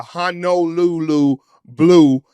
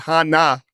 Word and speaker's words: Honolulu Blue: not worried about your Detroit Lions in the Honolulu Blue. The fans said we are calling it wrong. We're pronouncing it wrong, Mitchell. Not Hana, not Hana, Honolulu Blue.